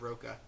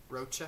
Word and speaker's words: Rocha: Is it Rocha? I've known it as Rocha. Rocha? I think I said Roca. Uh-huh. Rocha?